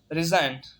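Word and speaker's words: resign: छठा रूल है, अगर किसी लफ्ज में एन से पहले जी आता है तो जी हमेशा साइलेंट हो जाता है। जैसे रिजाइन, रिजाइन मीन इस्तीफा देना।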